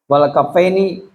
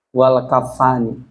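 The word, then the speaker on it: كفّان: wal anu beserta hidung Wal kafini ya mungkin yang lebih tepat wal kaffani tapi di sini bacanya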